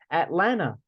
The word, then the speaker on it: Atlanta: Atlanta, there are the T's here, we do not pronounce them.